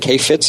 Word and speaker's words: Kheifets: and gentlemen Mr Kay Fitz did I pronounce your name right is it Kay Fitz is that how you pronounce your last name yep you actually did you're